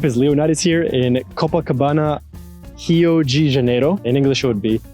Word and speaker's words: Rio de Janeiro: Alright, what up, is Leonidas here in Copacabana, Rio de Janeiro. In English it would be Rio de Janeiro, but in Brazilian Portuguese you pronounce the beginning R's of any word as an H.